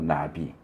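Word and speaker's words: נביא: 그래서 이제 선지자 그러면 히브리어로 나비, 우리말 나비하고 발음이 똑같은데, 선지자는 나비, 그리고 이제 선견자는 로에 이렇게 불러요.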